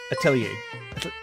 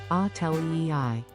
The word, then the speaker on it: Atelier: And, Atelier. Oh, there we go, thank you. At 000 Agent 88 super chatted $2. It's pronounced Atelier.